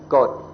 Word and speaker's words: กฎ: And what's very interesting, an interesting coincidence, is that if you pronounce the word in more long, you pronounce God. But if you shorten it, it's Got.